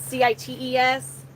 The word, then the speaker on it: CITES: Now, however, an organization called, I think it's pronounced CITES. It's CITES.